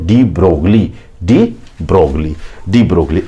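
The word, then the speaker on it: de Broglie: तो आपको उत्तर लगाना है बच्चों, डी ब्रोगली। इसका नेचर किसने बताया? तो आपको बताना है डी ब्रोगले। LI साइलेंट रहता है लेकिन हम हिंदी में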